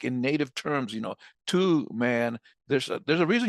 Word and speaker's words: Tuman: And I would be like, no, it's Two Man like a two-man bobsled.